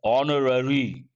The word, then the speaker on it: honorary: other words like uh honorary honorary post not honorary one more word you have to remember H silent all these and they